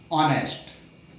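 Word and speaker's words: honest: ही इज ऑनेस्ट इसमें H silent है एच ओ एन इ एच टी ऑनेस्ट अबकि इसका उच्चारण हम देख रहे हैं उच्चारण में आ शब्द आ रहा है आ मतलब स्वर है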